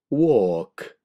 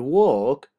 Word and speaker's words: walk: skull chalk stalk talk walk halt maltt salt chalk stalk talk and walk you cannot hear the L being pronounced halt maltt salt of